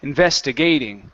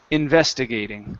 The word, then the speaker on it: investigating: okay and then yes we're going to stress gate but it's going to be a smaller stress it's a minimal stress so and investigating there you go that's the sound we don't want to say investigating it's investigating so okay so let's try